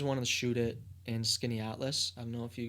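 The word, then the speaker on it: Skaneateles: I thought it was Skinnicles. How do you pronounce it? Skinny Atlas.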